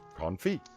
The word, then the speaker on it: confit: wrong Merry Christmas the word is on feet pronounced confit derives from the French verb on fear which